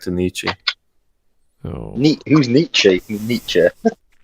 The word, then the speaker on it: Nietzsche: Nietzsche. not Nietzsche. Oh It's not like- God, let's not bring up Nietzsche's name does not rhyme with itchy knee.